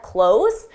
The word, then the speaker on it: close: The pronunciation difference, again, is a longer sound for the verb, close the door, and then a shorter sound for the adjective.